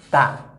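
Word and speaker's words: ت: Et si nous avons la lettre Ta. Si je vous demande maintenant de donner un mot où on trouve le son Ta dedans, quelqu'un peut donner, ou bien plusieurs personnes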